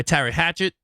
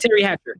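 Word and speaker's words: Teri Hatcher: encoder yeah um when paris was played by tyra hatchet um did i say her name right it was a terry hatchet terry hatcher terry hatcher terry yeah played by yeah paris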